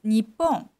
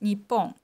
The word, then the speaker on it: Nippon: characters means Japan but it's called Nihon so so the the Chinese character you can see right now uh pronounced me um and there's another pronunciations for Japan in Japanese it's Nippon so Japan has two pronunciations only for Japan in Japanese so nihong and Nippon and the next one